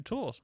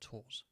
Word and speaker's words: Tours: I went over to tours again to tour not tours you don't pronounce the S I wouldn't know yeah